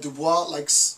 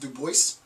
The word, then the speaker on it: Du Bois: And then I just found out that Dubois liked his name to be pronounced Du Bois. So I'm going to pronounce it. I was reading something, maybe my wife told me that. So I'm not going to pronounce it Dubois, I'm going to pronounce it Du Bois.